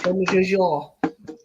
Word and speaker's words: Jean-Michel Jarre: Michael Jar Jar Jar. Jean-Michel Jarre. Jean. Barry doesn't Jean. have time for our Jean, shit. as in Jean. He was gone. Just like that. In French, it's spelled Jean. Yeah. His pip car went pip pip. His Yeah. name is spelled G-E-E-N. It is Jean.